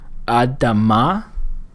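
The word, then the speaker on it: אדמה: In terms of how to pronounce these, our first word here, adama, simply means ground or earth. The sound that we're making there is a short A.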